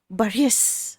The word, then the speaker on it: Boris: I think we're all mispronouncing his name because he clearly spends a minute in the movie teaching us how to pronounce his name and it's more like Baris.